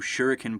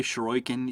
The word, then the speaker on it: Shuriken: stuff with the new Shuriken particle system. Uh, I'm sure you're going to hear me pronounce that like four or five different ways. I always say Shurroken, even though it's pronounced shuriken.